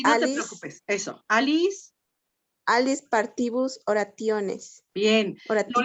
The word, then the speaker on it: alis: Fíjate, es una palabra muy pequeñita que tiene 3 sílabas. Primera sílaba, a. Segunda sílaba, li. Última sílaba, lis. Is, perdón. Entonces, si se fijan, la sílaba li es la penúltima, no tiene marca de breve, digo de larga, por lo tanto, la acentuación que la hizo muy bien María José, se va hasta la A, y ahí leo Alice, Alice, ¿sí?